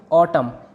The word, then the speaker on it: autumn: और दूसरी तरफ AUTUMN, इसमें MN लास्ट में है, वर्ड के एंड में है, इसलिए इसको कहेंगे ऑटम। इसमें N की कोई साउंड नहीं आएगी, N साइलेंट रहेगा।